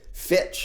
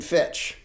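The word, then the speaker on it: Fichte: I'll say his name Johann Gottlieb Fitch I believe is the pronunciation who advocated what was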